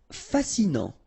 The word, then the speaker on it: fascinant: Fascinant. Final T not pronounced, so you get this A-N. En, non, fascinant. Imaginaire.